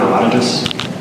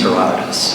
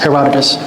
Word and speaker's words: Herodotus: are you talking about herodicus um is it the same I don't know how to pronounce the same okay how do you pronounce it Herod the Greek name is Herodotus Herodotus so that guy refer